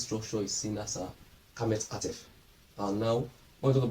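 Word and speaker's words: qamets hatuf: And we have kamets qatif as a short vowel. That's a o.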